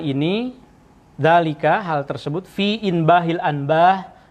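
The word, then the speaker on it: إنباه الأنباه: Waqad bayyana, dan kami telah jelaskan hal ini, dzalika, hal tersebut, fi inbahil anbah. Nah, ini bacanya inbah al-anbah, ini keseluruhan karena ini nama kitab.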